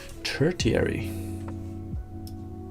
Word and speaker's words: tertiary: Tertiary. Damn. What's up, Sam Knight, by the way? Tertiary. Is that how you pronounce it?